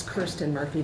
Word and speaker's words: Kirsten Murphy: Mike my name is it's Kirsten Murphy that's how I choose to pronounce it um and I'm the